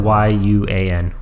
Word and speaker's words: Yuan: So, spelled with a Y, not a J. Yeah, Y-U-A-N. Yuan. Chinese.